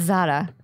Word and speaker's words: Zahra: You say it as Zara. Is that Arabic? Zara is like Persian / Arabic / What's the pronunciation? Zahra? It's Zara. Zara. It's like you're singing a Jessica Simpson song.